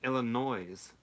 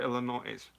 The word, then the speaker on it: Illinois: so they live in Illinois's no no no hug noise no in a quiet no look a little quieter Illinois's ooh you don't pronounce the yes it's Illinois yeah sure and it's